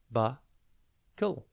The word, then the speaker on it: buckle: It's pronounced bu-kle, and it is spelt B-U-C-K-L-E. Think buck and then ul.